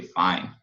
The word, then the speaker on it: fine: Então, morre no som do N, lembre-se. Não pronuncie o E, fine.